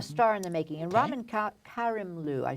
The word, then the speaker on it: Ramin Karimloo: And Ramin Karimloo, I said it wrong before, who we saw